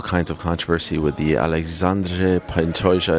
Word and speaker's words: Alexandre: The pronunciation policeman himself, the king of pronunciation, John Anik, is telling me it's Alexandre. 146, Alexandre.